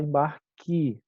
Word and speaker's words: embarque: Quando a gente fala rápido, a gente fala embarque com i, né?